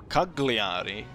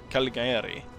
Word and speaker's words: Cagliari: I kept mispronouncing it. When I was looking at the loading screen, it actually said Cagliari, right? It's not Calgary. Cagliari, right? Or am I wrong?